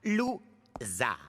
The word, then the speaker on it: Loser: Mon nom se prononce Zar. Lou-Zar.